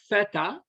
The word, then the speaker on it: theta: asymptotic notation um basically you can read it's pronounced theta the theta of whatever time function it's a